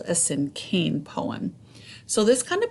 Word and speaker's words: cinquain: sim cane it looks like it would be pronounced way different I always think I always thought it was called a sin Queen but it's actually called a sin cane poem so this kind of poem is super